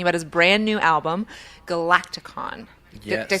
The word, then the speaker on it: Galaktikon: in studio talking about his brand new album, Galaktikon.